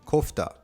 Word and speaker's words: kofta: Now, fun fact, kefta actually originated from Persia, then was introduced to the Middle East afterwards, and eventually Turkey, where it took on the pronunciation kofta.